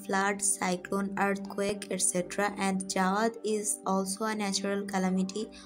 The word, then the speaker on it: Jawad: a cyclonic storm named jawad the name of this cyclonic storm is given by saudi arabia and the pronunciation of the word is actually zuad this is a quranic